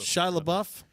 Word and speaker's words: Shia LaBeouf: Shia LaBeouf.